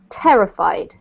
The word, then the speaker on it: terrified: yep so the emphasis is actually on this syllable here terrified terrifying yes that's better and then this one